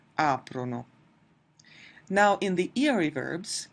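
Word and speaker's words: aprono: Notice that in the 'lore' form in none of the conjugations will we ever have the emphasis on the ending itself. It's always going to be before the ending so it's COM-prano, PREN-dono, AP-rono.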